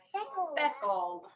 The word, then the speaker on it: speckled: It rhymes with freckled. Speckled.